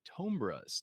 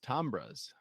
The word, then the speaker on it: Tombras: months I'm I'm assuming because you are a tombras tombras how do you pronounce it second one tomr tomra Professor yeah